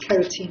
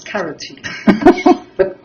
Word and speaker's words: keratin: particularly i just bitter she pronounced keratin as carotene but no i agree